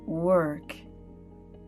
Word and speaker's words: work: create he told her think of the sound her at the end that's the sound you need without the H to pronounce world and work her world and work